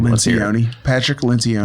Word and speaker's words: Patrick Lencioni: Patrick Lencioni. Lencioni?